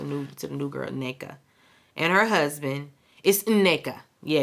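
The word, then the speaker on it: Nneka: to the new girl Nea and her husband is Nea yeah you got to say the n in the front neaa um and her husband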